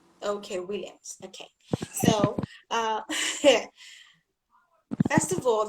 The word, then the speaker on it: Nwilliams: Okay, Williams. so My N is silent. okay, Williams.